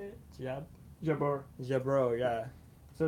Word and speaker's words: Jebur: Jebur.